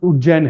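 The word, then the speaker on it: उज्जयिनी: उज्जैनी आज उज्जैन है। This was प्रोनाउंसिएटेड एज उज्जैनी। इसमें वाई और आई और लग जाता था, उज्जैनी हो जाता था।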